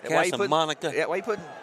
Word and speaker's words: Casamonica: Casamonica.